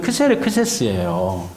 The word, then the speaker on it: 크세르크세스: 아라마음 이거든요 그니까 유대인들이 좀 읽기 쉽도록를 스 발음으로 표현한 건데 원래 이름은 크세르크세스 크세르크세스 그가 아스로 음이 좀 바뀌었죠 크세르크세스가 람에서